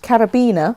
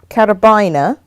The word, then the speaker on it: carabiner: tomato I think but some say they're pronounced carabina like ribena right and uh some that it is carabiner oh I could change